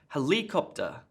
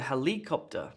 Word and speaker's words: helicopter: that sounds really weird what about helicopter look there's a helicopter that's around sounds strange as well what about /